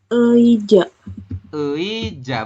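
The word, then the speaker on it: 의자: Tri berarti dibacanya adalah e I ja Betul ya teman-teman ini dibacanya tetap ei karena di awal Jadi dibacanya ei kemudian ditambah dengan ja bacanya eija seperti ini yang ini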